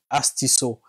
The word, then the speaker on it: Astuceso: Je suis et bienvenue dans Astisso. Il faudrait que j'arrive à bien le prononcer. Astisso.